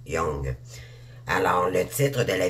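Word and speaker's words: Jung: c'est de Carl on ça s ça se prononce Jong mais c'est Jong ok donc Carl C a r l Jong j e n g mais ça se prononce Jong alors le titre de la vidéo c'est ta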